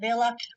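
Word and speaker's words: Wille: uh Ellen Villa it looks spelled Wy but pronounced Villa runs smaller John Renault uh John Renault Raquel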